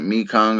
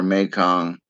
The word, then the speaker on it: Mekong: You can pronounce it Mekong or Mekong.